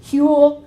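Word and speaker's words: Whewell: Huell and moral philosophy so it's so that's pronounced Huell and Huell was a conservative christian cleric who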